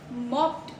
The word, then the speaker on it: mopped: Pronunciation 2 is mopped.